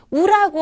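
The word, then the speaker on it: う: 그런데 한 가지 우라고 하는 거, 이거를 발음할 때는 너무 우 하는 식으로 입에다가 힘을 주지 마시고 입에 힘을 빼고 우 하고 발음한다는 거 기억나시죠?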